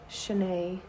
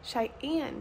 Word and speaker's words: Cheyenne: a beautiful morning in Shanae said it wrong again Cheyenne Cheyenne Wyoming the lighting won't work